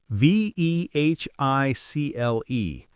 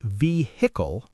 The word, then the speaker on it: vehicle: Now, some people say vehicle with the H, but many native speakers say vehicle. H silent. Both are acceptable, but silent H is more common in casual speech.